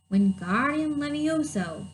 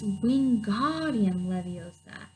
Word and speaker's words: Wingardium Leviosa: "Wingardium Levioso," he shouted, waving his arms wide like a windmill. "You're saying it wrong," Harry heard Hermione snap. "It's Wingardium Leviosa. Make the gar nice and long."